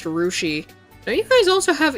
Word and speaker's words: Russia: We have a town called Russia, pronounced Rushi.